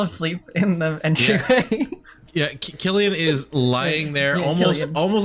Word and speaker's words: Cillian: Killian. I mispronounced Killian as Cillian for a very long time.